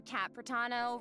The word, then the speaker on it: Kat Pratano: Hey everyone, I'm Kat Pratano, rhymes with Kat Capitano, Pratano?